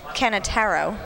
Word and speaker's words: Canataro: I will fix my pronunciation of Russell's name because Coach Tony Alexander completely wrote it wrong, but it's Canataro. Russell Canataro, which he did not write down on my paper.